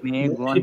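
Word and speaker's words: 没关系: Okay she মেই গুয়ানছি, এটা যতটুকু ছোট রাখা সম্ভব, হ্যাঁ মেই গুয়ানছি যতটুকু ছোট রাখা সম্ভব, কারণ এখানে টোন নাই, যেটা টোন থাকবে না ওটার প্রোনাউন্সিয়েশনটা একদম শর্ট হবে।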